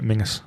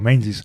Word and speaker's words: Menzies: So it's got to be Mingus. Mingus. Yeah, because I used to call it Castle Menzies. Yeah. Or the Menzies Castle Stone. But it's Mingus.